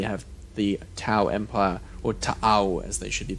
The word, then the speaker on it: Tau: yep and we have the tau Empire or tau as they should be pronounced who are basically mecca's in space yeah